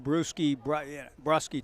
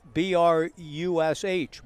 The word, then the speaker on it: Brush: to look Chase up, there is no C, so I never would have been in the whole Brusky type of thing. It is spelled B-R-U-S-H, Brush, with an E. That would have been fairly straightforward, but I thought I